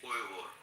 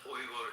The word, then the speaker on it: Uyghur: The actual pronunciation of the word is actually Uyghur.